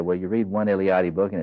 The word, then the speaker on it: Eliade: And that's Mircea, pronounced Mircea, Eliade, Eliade.